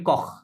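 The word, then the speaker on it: corps: ওটা বলে কখ, সিওআর, ক হ্যাঁ, পিএস উচ্চারণ হয় না, কখ বলে, তাহলে ওটা ক ম্যাসকুলিন, তাহলে ও দিতে ক হবে, কি হবে?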